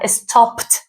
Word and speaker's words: stopped: Entonces, a juntar plate sonar suave y a juntar stopped te va a sonar fuerte como una t.